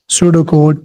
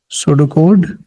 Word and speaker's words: pseudocode: This is the short form of algorithm, algo, using pseudocode, P is silent, pseudocode, which input marks of 10 students.